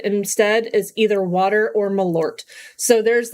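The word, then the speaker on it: Malört: aiming with that one water or malort which I'm told is how you say that um I wouldn't know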